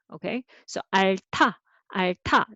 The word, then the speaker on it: 앓다: Okay, so 알타, 알타, not 알다, but 알타.